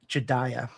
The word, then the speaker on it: Jedediah: Jedediah. Oh. Oh, okay. Right? This is how you say Jeddidiah. Jedediah. Jedediah. That is Jedediah.